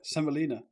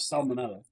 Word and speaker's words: semolina: Is that not how you say it? Semolina. Wheat. Semolina. Not salmonella.